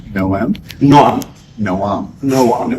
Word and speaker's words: Noam: It's pronounced Noam? Noam. Noam. Noam. It's like Noah from the Ark with an M in the end.